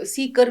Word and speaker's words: CEEKR: आपके जो प्रयास हैं yoga सीकर with Yogi metre जी, ये नाम बड़ा इम्प्रेस कर रहा है मुझे जी। तो स्पेलिंग है CEEKR और बोलने में आता है सीकर, मतलब जो कोई खोज